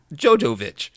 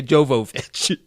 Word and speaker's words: Jovovich: up Mila Joe Jovovich I still pronounce it jojovich okay it's very hard to say Jovovich I just said Fifth